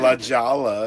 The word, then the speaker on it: La Jolla: La Jolla is La now Jolla, yeah.